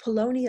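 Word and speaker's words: Paulownia: So Polonia is spelled P-A-U-L, like Paul, L-O-W-N-I-A, Polonia.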